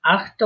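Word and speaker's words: acht: হুম, এই আখটা উচ্চারণ করার সময় আখট, আখট, ঠিক আছে? আখট, একটু হটা উচ্চারণ করবেন।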